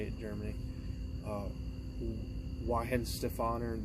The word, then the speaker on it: Weihenstephaner: And then I finally had the Weihenstephaner, that's how they say it in Germany. Weihenstephaner, that's how I would say it.